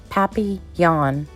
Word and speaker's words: papillon: You say it like this, papillon. In French, it means butterfly.